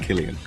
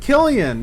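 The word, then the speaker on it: Cillian: name he'll pronounce it for you and it's pronounced Killian that's it Killian yeah Killian Murphy thanks Killian his performance as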